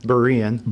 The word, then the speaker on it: Berean: Am I saying it right? Berean? No. You said it right when you said it wrong. Berean.